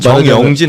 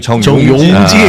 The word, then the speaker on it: 정용진: 저도 들여다보니까 정윤준 회장의 주 정영진 아니고 정용진. 발음 좀 제발 조심 좀 하시라.